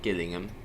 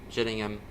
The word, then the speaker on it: Gillingham: Not Gillingham. I don't pronounce like that. Gillingham. Jillingham. Kent.